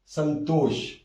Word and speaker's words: संतोष: सम plus तोष, यहां हो जाएगा इसका संधि जोड़ संतोष, ता का पंचमाक्षर ना है और मां यहां उस ना के अनुस्वार के रूप में आया है, इसका उच्चारण होगा ऐसे संतोष, ये अनुस्वार के रूप में यहां है।